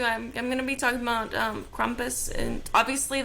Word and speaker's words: Krampus: I'm gonna be talking about Krampus, and obviously the pronunciation might sound a little different than what you're used to, but I'm just going off the German pronunciation of it because She lived in